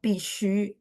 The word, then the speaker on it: 必须: Ini bacanya juga pishu, shu-nya beda ya. Teman-teman bisa lihat hurufnya beda. Pishu yang barusan saya tulis nih bacanya sama ya. 4-1. Nadanya sama tapi huruf Mandarinnya berbeda.